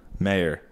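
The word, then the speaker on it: Maher: M-A-H-E-R. Mayor. Mayor. Marr. It's Marr.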